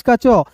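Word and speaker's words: catch: सी एच का च टी यहां पे साइलेंट होगा ए का उच्चारण ऐ के रूप में होगा कैच हो गया क्लियर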